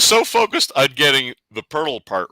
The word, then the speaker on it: Poeltl: I was so focused on getting the Poeltl part right that I screwed up the Jakob part. That is terrible. Poeltl rhymes with Wordle.